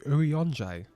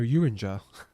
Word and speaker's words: Urianger: Oh, is that how you say his name? Urianger. I've been calling her Uringer.